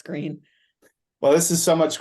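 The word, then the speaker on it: Gruene: town called green but you're not supposed to pronounce it the way it's spelled right well I mean I I guess the old Germans would say gron yes but they colloquially now it's green well this is so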